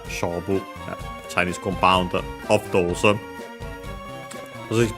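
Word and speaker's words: 勝負: By the way, accent on the first mora, Shobu, Chinese compound of those.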